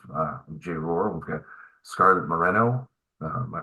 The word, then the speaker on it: Scarlet Moreno: We've got Scarlet Moreno. Am I pronouncing that correctly?